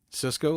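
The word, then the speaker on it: Sisko: Cisco, like Cisco kid. Yeah, sort of. But it's spelled with an S. S I S K O.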